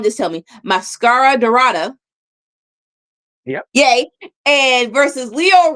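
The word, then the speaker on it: Máscara Dorada: Mascara Dorado.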